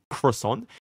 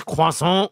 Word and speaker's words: croissant: Like, there's always a little huh it's not croissant, it's croissant, you know what I'm saying?